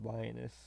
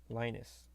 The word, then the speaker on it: Linus: okay I don't know why you pronounce this lioness Linus you added an o you said lioness um as a lion